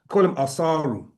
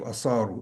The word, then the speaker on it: Asar: That's the name they give, Asaru or Asar. Yeah, but his name is Asar. Okay, and the reason why it's pronounced like that is because the word means to extract.